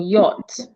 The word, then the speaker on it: yacht: it to see and sometimes C and H can be silent as in yacht in this word the CH is silent so let's go to